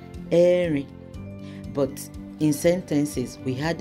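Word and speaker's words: ẹ̀rin: We say Erin.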